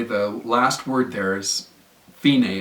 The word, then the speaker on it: Fine: last word there is Feeny it's pronounced Feeny but it looks like the word fine so you go from